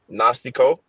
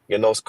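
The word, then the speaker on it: γινώσκω: Strong's G 1097. Gnostico. Excuse me. Genosco. Something like that. Genosco. I think it's Genosco. Genosco. Yep. Yeah. Could you hear that? Nah. Okay. It played in my headphones, but yeah, I pronounced it Genosco. It's Genosco. You know what I'm saying?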